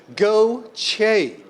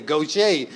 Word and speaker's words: Gautier: hey my little friend you have got to start saying go CH that's how they say it and then my man Jeremy sat down and he said what I say goet and I had to